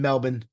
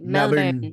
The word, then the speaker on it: Melbourne: It's Melbourne, is right? Isn't that how they say it? Okay, so it's actually not. So I was saying like Melbourne, and then Steph was like, "No, you can't say like that. Like it's like Melbourne, like it's like Melbourne or something.